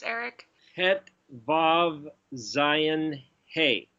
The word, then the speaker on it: Vav: Every time you have the O sound, you either have the letter Vav, or what somebody would pronounce as a W-A-W, Wah, or it's got a